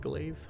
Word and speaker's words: glaive: uh destroy them with glaive it's pronounced like clay okay glaive thank you